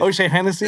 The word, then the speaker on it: O'Shaughnessy: O'Shaughnessy, or how do you say it? O'Shea Hennessy.